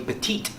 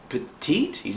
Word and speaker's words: Petit: Yeah, I called Remy Petite for the first time. And instead of petit, like I pronounced the last T. And after the match, he's like, what's my last name? I was like, Petite?